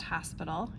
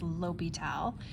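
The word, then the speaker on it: L'Hôpital: O and the P it looks like hospital but it's not pronounced hospital it's Lyal um and this is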